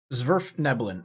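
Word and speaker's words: svirfneblin: for Dark Elves right this is worth nebulon zverf nebulon all right it's just been a while since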